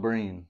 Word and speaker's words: Breen: Mike Breen.